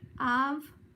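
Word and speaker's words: אב: How do you pronounce the word for father? Av, A-V.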